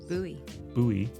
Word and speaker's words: Bowie: It looked like Bowie, but I learned that it's not pronounced Bowie. Right. Bowie, Maryland.